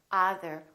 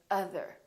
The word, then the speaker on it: other: Or other. We don't say other, we say other.